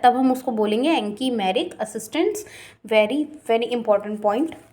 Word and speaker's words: anchimeric: Reaction का, और इसी को हम बोलते हैं एनकीमेरिक असिस्टेंस।